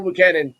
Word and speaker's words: Buchanan: I'm gonna pronounce his last name. I'm gonna butcher his last name. Buchanan.